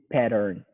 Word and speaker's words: pattern: slowly pattern pattern yeah you got to put all the emphasis on the first syllable pattern pattern pattern you know what maybe try to say the n a little stronger too at the end pattern pattern when i